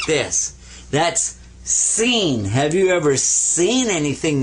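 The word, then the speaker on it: سين: Now this one is seen. Sa. Like a regular S.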